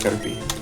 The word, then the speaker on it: Caterpie: P-I-E is pie. I know, but it's pronounced Caterpie.